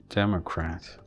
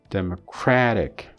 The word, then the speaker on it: democratic: So this one is flapped. Democratic. So this gets the stress, okay? Now this one takes a secondary stress, and then suddenly and this one is reduced, and this one is strengthened. Democratic. So democratic. So here the stress is on crat, but then here if